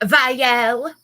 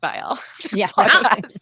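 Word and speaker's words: Viall: so Nick Vel it's it's gonna piss me off every time she says Vel and let's take a shot for every time I say Nick viel there we go Vel you said it right the very first time you said his name in this chapter and last chapter so why can't you say it right I listen I know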